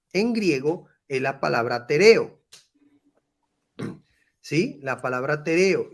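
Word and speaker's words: τηρέω: Dice la palabra, la pronunciación es tereos.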